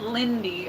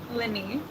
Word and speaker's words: Linny: I said Lindy, okay? I did not say it right. Linny.